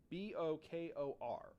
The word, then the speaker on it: Bokor: A practitioner of voodoo is called, for a man, it's a Bokor. B-O-K-O-R.